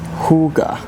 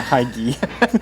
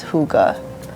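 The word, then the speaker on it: hygge: say like all right so definitely not high gee not like hi translates to a sense of comfort togetherness and well-being you know Huga when you feel it almost okay I think I'm Feeling High Gee right now it's Huga not it's hyga all right get it correct okay it's pronounce hookah yeah but it seems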